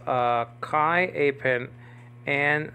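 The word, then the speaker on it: καί: all these Greek words Kai nowadays in modern Greek pronounced que they're like that I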